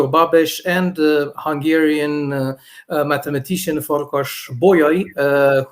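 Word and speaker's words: Babeș-Bolyai: name of the universe the correct way to pronounce it so i'm uh the head of international relations of the babish boya university includes romania the name of the university is from romanian medicine doctor victor babesh and hungarian mathematician for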